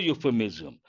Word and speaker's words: euphemism: you euphemism when you how do you pronounce u y o u y sound Y sound is a consonantal sound based on that you have to say a euphemism this is an important